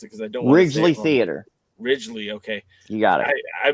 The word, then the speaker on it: Ridglea: off thursday night at the uh help me pronounce it because i don't theater ridgely okay you got it i've been saying it every wrong way uh leading up to this event so the ridgeley theater now uh what's your history with originally